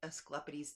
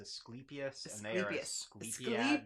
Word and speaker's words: Asclepius: this was talking about escalapiti's temples um I might have pronounced that God's name wrong I probably almost certainly did but what is his name his name is asclepius yeah temples there we